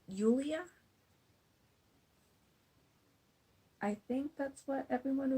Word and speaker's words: Julia: at the church also julia is actually pronounced yulia i think that's what everyone was saying was yulia like wow i was